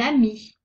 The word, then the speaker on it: amie: Exemple, un téléphone, une amie. On n'entend pas la lettre E.